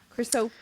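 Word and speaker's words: Chrysopoeia: Chrysop.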